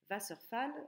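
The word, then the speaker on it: Wasserfall: réellement et donc ici on fait bien attention à ne pas le prononcer à l'anglaise va surfale Vasseur c'est l'eau Fals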